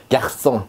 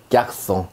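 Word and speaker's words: garçon: 쌍숏 발음입니다. 자, 한번 예를 보시죠. 약송 이렇게 돼 있는데 자, 요 발음이 지금 쌍숏 발음이라 송 발음이 나고 있죠. 약송.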